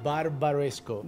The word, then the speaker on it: Barbaresco: yeah yeah Barbara's go ok so that again barbaresco barbaresco pronunciation nailed ahead 10 plus guy about marisco